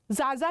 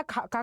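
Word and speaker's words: Xaxa: Apart from that जाजा या खाका committee report, ठीक है, जो भी आपको ये प्रोनाउंस करते हो, ठीक है, तो मैं इसको खाका कमेटी रिपोर्ट बोलती हूँ।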